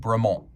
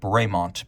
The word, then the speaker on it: Bremont: would have pronounced it bremont but it is officially bremont because this is an English watch brand and they speak The King's English you can see the